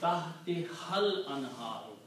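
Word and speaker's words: تحتها الأنهار: You read tahti hal anharu. You do not pronounce this alif of al. Tahti hal anharu.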